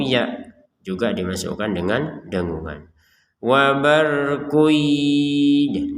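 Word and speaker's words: وَبَرْقٌ: Wabarkuy, jadi jangan dibaca wabarkun, atau dibacanya wabarkuy tapi tidak ada dengungan, itu ya tidak sempurna.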